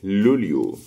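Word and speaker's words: luglio: يبقى الجي ان بننطقها ني زي كلمة سينيورا، والجي ال بننطقها لي زي كلمة لوليو.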